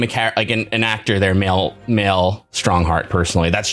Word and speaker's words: Mael: chief justice male strongheart that's m-a-e-l and i'm assuming it's pronounced male like a maelstrom you know do you